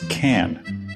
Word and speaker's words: Kanter: The correct pronunciation is can like a can of soup, not like cans of soup.